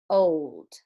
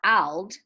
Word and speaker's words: old: Repeat, OLD, cold, old. And because it says old, not ald, we would mark it up like this.